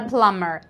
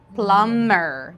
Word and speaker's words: plumber: PL PL PL a plumber B is not pronounced plumber B is just for